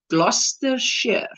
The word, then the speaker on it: Gloucestershire: got it right there that name is pronounced gloucestershire plus the chefsana thank